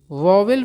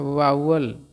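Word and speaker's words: vowel: और लोग इसको वोवेल पढ़ते हैं। लेकिन सही प्रोनाउंसिएशन होता है वोवेल। ठीक है ना? स्वर जिसको हम लोग हिंदी में कहते हैं।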